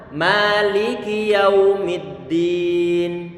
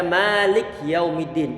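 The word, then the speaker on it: مالك يوم الدين: biar kita ke bawah kemudian Kaf dia di kasrohkan bacaan I tidak dibaca Malik yaumiddin perhatikan Malik yaumiddin bacaan yang salah Malik yaumiddin kafnya saya sukun Kan barusan ini bacaan yang saya yang salah pastikan bahwa kah di situ suaranya Di kasrahkan ada suara ini dan tidak dipanjangkan Maliki yaumiddin tidak boleh dibaca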